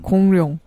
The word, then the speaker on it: 공룡: 이런 기음 공룡 부처 공룡 응 공 공룡 아예 포기하고 니은으로 발음하세요 공룡 응 야 세민이한테